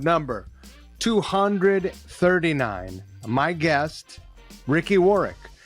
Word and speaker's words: Warwick: My guest, Ricky Warwick. Don't pronounce that second W.